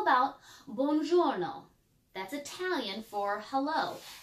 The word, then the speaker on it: buongiorno: How about buongiorno? That's Italian for hello. How many syllables are in buongiorno? 3.